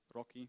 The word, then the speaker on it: RoCE: And finally, the one we picked, RoCE, kind of, that's how you say it, RoCE, gonna punch industrial applications to 100 gigabits per second.